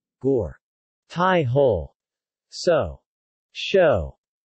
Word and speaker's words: gor: As in God, though more rounded. Gore.